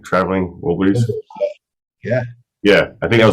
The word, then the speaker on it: Wilburys: Traveling Wilburys?